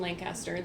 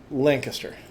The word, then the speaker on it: Lancaster: My boss's boss boss corrected me. Mhm. not Lancaster. And I'm like, "Yeah, I know I say it wrong, but he's like Lancaster."